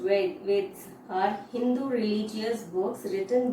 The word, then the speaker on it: Vedas: So religious books, okay, the religious books, for example, that is the Vedas, the pronounced Veds are Hindu religious books written by early people called the Aryans.